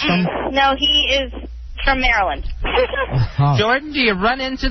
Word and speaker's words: Maryland: I mean, if you would look at the way Maryland is spelled, it would be Maryland, and people say Merlin.